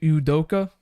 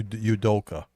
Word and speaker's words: Udoka: I can't even pronounce the guy's name. What's his Ime Udoka? Yeah, Udoka.